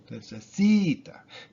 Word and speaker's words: necesita: Even if there's a whole ton of syllables in the word, like 4 syllables, like in necesita, necesita. It's the C, necesita. That's the accented vowel, the accented syllable.